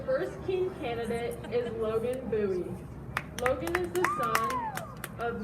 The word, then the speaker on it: Bowie: Instead of Bowie, they substituted a B for the W.